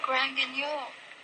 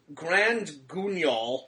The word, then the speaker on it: Grand Guignol: Tomorrow night you're supposed to play at Grand Guignol.